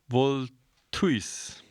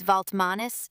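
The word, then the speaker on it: Valtmanis: The other co-founder's last name is Vaultmanis spelled V A L T M A N I S and it's usually pronounced like Vmanis with the stress in the middle.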